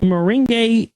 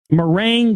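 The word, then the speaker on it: meringue: invitation only party had bone shaped moring uh I'm sorry Ming merang that was a horrible mispronunciation there uh bone shaped mering cookies and fruit punch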